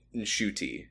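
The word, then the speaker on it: Ncuti: Maybe Shy gota maybe Ruby and and we learned that he was pronouncing his name wrong. Yeah, I don't know how to pronounce it right. So until I learn the right way, I'll keep saying I heard a video of him saying nshuti.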